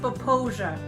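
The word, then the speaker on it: Popo Agie: We are at the rise of the Popo Agi. I don't know if I'm saying that right. Bryce, it's pronounced Poposia.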